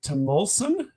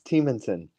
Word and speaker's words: Teemanson: Is it Timulson? It's Teemanson. Teemanson. Yes, So it's not a short, it's a long E rather than a short one.